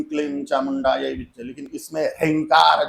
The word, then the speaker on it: ह्रीं: जप करे, ओम ऐं ह्रीं क्लीं चामुंडायै विद्महे। लेकिन इसमें ह्रींकार जो है वो थोड़ा कठिन पड़ता है। ह्रीं, ह अधिक र अधिक ई अधिक ह्रीं, ऐसा उसका उच्चारण है।